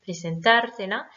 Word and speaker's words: presentártela: Presentártela. Même chose, on a rajouté deux syllabes, donc il faut rétablir l'accentuation. L'accentuation se fait donc sur le A de presentar, presentártela.